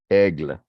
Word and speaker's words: Hegel: Hegel if you pronounce, some people in French pronounce it aigle, aigle, aigle, aigle.